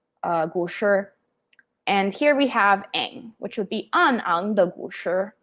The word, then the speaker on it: Aang: the last airbender but they did technically pronounce aang's name right it should be um but uh you know eng it's fine i'm i'm not gonna